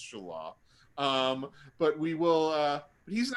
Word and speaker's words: Shelah: And I have another son, Shelah, which, I'll pronounce Shelah, not Sheila, even though it's spelt that way. It's Shelah.